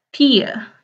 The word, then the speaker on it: tio: Terus otah, nia, tia ya. Otah, nia, tia. Tulisannya nio sama tio tapi dibacanya nia. Kayak gini ya, nia. Tapi i-nya kayak yang i, jangan yang e tapi yang e ya.